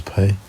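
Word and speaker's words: Pai: against pay or pi i know our pronunciation is pay one not pi because there's no e in here anyway here we go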